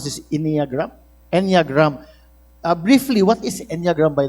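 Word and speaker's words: Enneagram: How do you pronounce this inagram? Eniagram.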